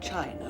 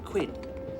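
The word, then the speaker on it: Qin: the Great Wall of China was designed by the emperor Quinn whose aspiration Excuse Me Miss Seymour it is pronounced chin oh thank you Mr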